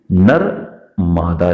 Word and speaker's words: नर्मदा: Pronunciation करती हैं तो नर्मदा को नरमादा कह देती हैं, नरमादा। स्पेलिंग कुछ ऐसी है, NARMADA।